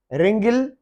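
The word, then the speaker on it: wring: रिंगल, W silent है, रिंगल। रिंग, मरोड़ना, वो ये किसी कपड़े को या वगैरह किसी चीज को, रिंग, डब्ल्यू साइलेंट है।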